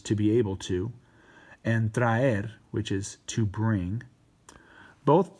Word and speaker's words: traer: For traer, remember I told you guys with traer, don't go traer. Make sure you're pronouncing both vowels.